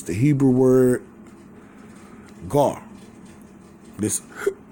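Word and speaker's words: גר: It's the Hebrew word gar. This how it's pronounced.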